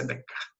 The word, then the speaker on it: Descartes: Está escrito ali Descartes, né? Mas é Descartes. É a pronúncia francesa, como ele era francês também, nasceu em 1596, viveu até 1650, não muito tempo ali, né?